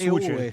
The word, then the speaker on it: Hughes: Pero a No su sé vez cómo no se depende pronuncia de en Scocco, inglés, claro. pero bueno, es Hughes, Hughes es.